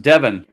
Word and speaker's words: Devon: all in our shelter we've been corrected it's pronounced devin yeah devon out there yeah it's devin devon you know